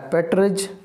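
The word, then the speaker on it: partridge: तो मैना, मकाव, मकावी तोता, ठीक है, नाइटेंगल बुलबुल, आउटस्ट्रिच, शुतुरमुर्ग, ओल, उल्लू, पैरेट, तोता, पेट्रिज, इसमें डी साइलेंट है, तो इसको हम चकोर या तीतर बोलते हैं, चकोर या चकोर या तीतर बोलेंगे।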